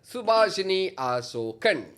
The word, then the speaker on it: சுபாஷினி அசோகன்: அவங்க வேறு யாரும் இல்லை, நம்மளுடைய சுபாஷினி அசோகன். ஹலோ. கரெக்டாக ப்ரொனவுன்ஸ் பண்ணனா?